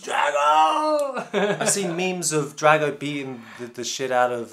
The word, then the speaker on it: Drago: Ivan Drago.